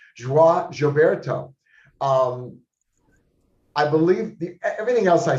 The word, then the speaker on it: João Gilberto: So I think he's the one who came up with joie, he told me how to say it, João Gilberto.